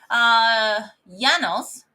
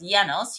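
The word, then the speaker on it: János: Janos, I think it's pronounced as Janos, Hugo Bruno Hans Selye.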